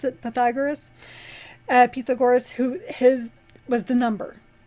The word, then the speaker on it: Pythagoras: So I found out how you pronounce it. Pythagoras, who his was the number, that was the beginning.